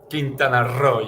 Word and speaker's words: Quintana Roo: And we know that Mexico has decided to put in a lot of investment in and around, how do I pronounce it? Quintana Roo? Quintana Roo, yes.